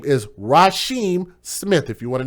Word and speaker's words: Rysheim: guy that's her boyfriend and his name is Raheem Smith if you want to know how to spell it it's ry Sh II am he was